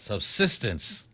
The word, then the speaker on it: subsistence: for a substance subsistence subsistence subsistence there you go get the accent on the second syllable jose subsistence farming cultivated